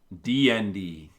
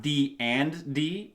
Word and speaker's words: DND: It's spelled DN D. The game is called DN D, not D and D. It's called DN D. It's the actual name of the game.